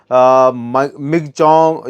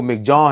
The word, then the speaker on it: Michaung: दोस्तों, cyclonic storm मिगचोंग या फिर माईचोंग और तमाम नाम उसे दिए जा रहे हैं। मिचोंग भी कहा जा रहा है, लेकिन उसका जो असल में प्रोनाउंसिएशन है वो मिगजों है और ये नाम म्यांमार ने दिया है।